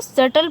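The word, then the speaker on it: subtle: और इसको सटल पढ़ेंगे, बी यहाँ पे खामोश रहेगा, चुप रहेगा, इसकी आवाज़ नहीं आनी है।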